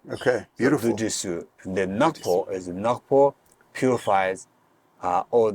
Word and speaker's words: Du Ti Su: So this mantra, Dujisu, 3 syllables, has the power to burn, to purify those three.